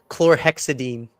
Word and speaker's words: chlorhexidine: Chlorhexamine. Chlorhexidine. Chlorohexidine. Your husband's a dentist. I could just say it. I can't spell it.